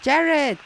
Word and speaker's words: Jared: It is Jared, and it rhymes with parrots, which is what we saw earlier on in Juma, the brown-headed parrots.